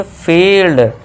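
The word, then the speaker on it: field: wire fifth rule देखिए जब किसी वर्ड में आई ई आए तो आई ई को आपके लॉन्ग ई से पढ़ना है यानी कि लॉन्ग ई खींचना है तो इसे क्या पढ़ेंगे आई ई आ गया तो इसे क्या पढ़ेंगे फील्ड देखिए एफ के लिए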